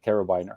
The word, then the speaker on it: carabiner: caribiner group this yeah i pronounced that right carabiner carabiner carabiner people it's yeah yeah think of the hook yeah we hook it